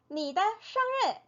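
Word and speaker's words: 日: 생일은 한자는 그대로 쓰여요 발음이 르 르 르 이렇게 소리가나요 그래서 너의 생일 너의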